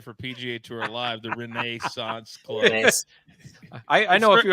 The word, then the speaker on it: Renaissance: They pronounce it the Renaissance Club. It looks like Renaissance.